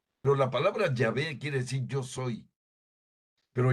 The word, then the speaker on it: Yahvé: Que es lo que quiere decir Yahvé. Que los protestantes siguen pronunciando erróneamente como Jehová, ¿verdad? Ya ellos están equivocados. Pero la palabra Yahvé quiere decir yo soy.